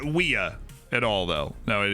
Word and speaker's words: Weah: Now, Weah is the way it's traditionally pronounced, but I think